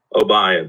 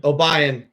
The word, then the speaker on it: Obion: probably gonna mispronounce this oh how do you pronounce your school obay obay OB County obay County uh Central High School